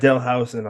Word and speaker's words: Howison: Today we have today we have Howison on. Please tell me if I'm mispronouncing that last name.